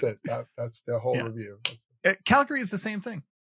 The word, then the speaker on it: Calgary: Calgary is the same thing. People that aren't from here say Calgary all the time. Calgary. Yeah. They put the emphasis on the wrong syllable.